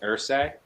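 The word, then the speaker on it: Irsay: the Colts late owner, his last name is how you say sir in pig Latin. H I gotta look that up. That's interesting. Jim Ers.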